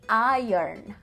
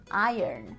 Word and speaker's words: iron: But pay attention to the pronunciation. You say iron, iron, okay? To iron the clothes.